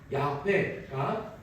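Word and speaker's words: 야훼: 그런데 여호와라고 하는이 발음은 어디까지는 한식 발음이고 원래 히브리어 원어의 발음은 야회가 더 가깝습니다.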